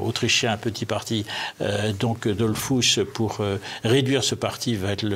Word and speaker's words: Dollfuss: durement avec le chancelier Dollfuss. Je prononce son nom à l'allemande.